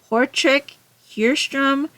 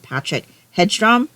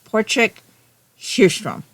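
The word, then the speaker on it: Patrik Hedström: This is the second book in the Portric Hstrom mystery series. I think that's the correct pronunciation though. It's written like if you read how it's written for someone who's not Swedish.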